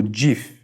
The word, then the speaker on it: GIF: d'après vous GIF ou GIF Steve ou allahet l'inventeur du gif a déclaré qu'il devait être prononcé gif comme la marque de beurre d'arachide plutôt qu'avec un songer dur quoi qu'il en soit